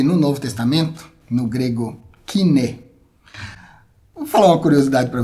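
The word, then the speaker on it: koiné: E agora a gente tem aparece aqui, eu comentei, eu falei aqui o termo kine, que você conhece como grego coiné, mas a pronúncia é kine.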